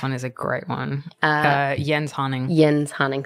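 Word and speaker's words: Jens Haaning: is a great one yen hunting Yen's hunting thank you for the pronoun here cuz when I first pronounced that it was Jen's hanning yeah Jen's Hunning Jen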